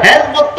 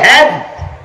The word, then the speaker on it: হিজ: পন্নীর প্রতিষ্ঠিত Hizb ut Hizb ut বলতে পারে না, হিজ শব্দের তো দল, এই শব্দটারও সে সঠিক উচ্চারণ করতে পারে না, সে হিজকে বলে হ্যাজ, ইসলামকে বলে ইসলাম, ইমামকে বলে এমাম।